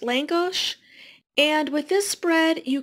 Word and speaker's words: lángos: Hungarian fried bread here I believe it's pronounced Lang gosh and with this spread